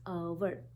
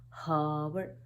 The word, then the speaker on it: hour: the correct pronunciation is our. The next one is our again. Now it starts with a H, but there is no sound of H. It is not hover.